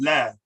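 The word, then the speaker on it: لا: these two words down l a that is pronounced lab l is a soft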